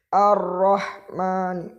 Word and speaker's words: الرحمن: Nani Allah Man man ar-rahman jangan terlalu ditekan menjadi bacanya seperti ini ar-rahman misalkan Bismillahirrohmanirrohim seperti itu